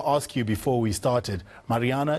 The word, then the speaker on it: Maryana: you before we started mariana is that is that how you pronounce it properly you got it exactly right it's a pleasure to be with you well uh mariana you were born in